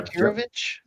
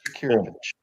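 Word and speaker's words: Jakirović: Just spell that for us, please, Aaron. Yeah. Jakirovic. Yeah. Jakirovich. Sounds right. Sounds Yeah. about right. You hit it. Yeah. Right on the head. Jakirovich.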